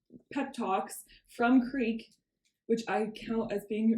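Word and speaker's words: Krek: Her name is Creek, but I didn't know if people would understand that. Anyway, K R E K rhymes with freak.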